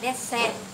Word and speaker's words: dessert: ta gọi là dessert, tiếng Pháp gọi là dessert. Dessert, ta thì nghe thấy chữ D đúng không? Des, ta đọc là des.